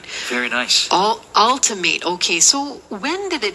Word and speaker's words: Altimate: So is it Ultimate or Altimate, guys? It's Ultimate Nutrition. Okay. Which represents the alternative source of nutrition. Wow. All right. Very nice. Ultimate.